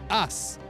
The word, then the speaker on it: As: In German, so ace, like an ace of spades, like the card, in German is called us, and it's spelled A-S-S. But in German it's just us, and it means ace.